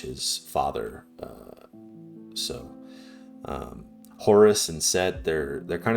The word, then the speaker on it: Horus: Horus. Uh but like I said, uh the Greeks like to add us to the end of names. So, uh in the original Egyptian, it could have been uh heru or just So, just Yeah.